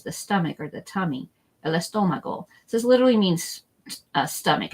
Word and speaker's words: el estómago: to learn is the stomach or the tummy, el estómago. So this literally means stomach. It does not mean tummy. There's another word for that. We're just going to do estómago. El estómago.